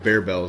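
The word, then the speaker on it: Barebells: Wait, Bearbells is actually the right way to pronounce it at a Fit Crunch.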